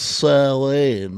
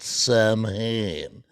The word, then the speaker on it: Samhain: It's pronounced Samhain, not Samhain.